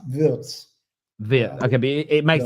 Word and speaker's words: Wirtz: To clarify straight from the beginning, his name is Florian Wirtz. Wirtz. Yeah. Wirtz. Lovely. Well, thank you. So we have been saying it wrong.